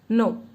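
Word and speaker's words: non: No. We don't pronounce the last consonant.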